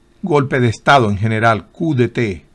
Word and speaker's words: coup d'état: Coup d'état. A propósito, no se pronuncia porque viene del francés. Coup d'état.